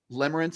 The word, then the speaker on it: limerence: nerd can you sp limerence i want to make sure that we're hearing this correctly how do we spell that well i can so it's l-i-m-e-r-e-n-c-e so it's limer it's like limerick but limits and we've got